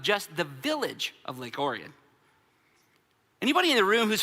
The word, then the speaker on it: Orion: Number 1, the whole world pronounces Orion wrong. You're the only ones that got it right.